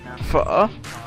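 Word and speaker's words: phở: Beef pho, pronounced pho, feels like a restaurant staple, but it's actually not all that hard to make a quick versions at home.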